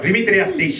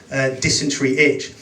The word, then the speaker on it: Demetrius Deitch: Demetrius Deitch is how it's pronounced. It's a Greek name, which is actually short for Colin. I get introduced everything on stage, like once dysentery itch. Another time, dermatitis bitch.